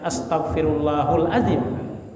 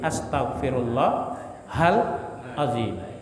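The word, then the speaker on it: أستغفر الله العظيم: Qayyum wa atubu ilaih Jadi dibacanya jangan astagfirullahulazzim tapi Astagfirullah halzim harus jelas ya di situ karena itu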